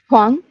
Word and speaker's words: Huang: Huang.